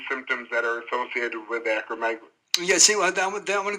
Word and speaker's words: acromegaly: actually very typical michael the pronunciation is acromegaly and actually when i